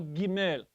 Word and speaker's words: Gimel: Now, it has the sound of a hard G, but what we mean by the hard G is from the back of the throat. It's a guttural. We get the word guttural from the G, from the Gimel. It's not G, it's G. Gimel.